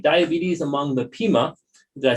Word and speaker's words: Pima: Her books include two monographs, Diabetes Among, and I'm going to pronounce this right, Diabetes Among the Pima.